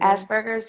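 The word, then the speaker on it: Asperger's: and all that other stuff um and then Asbergers asber how do you say that asers Asbergers yes yeah so my experience with autistic children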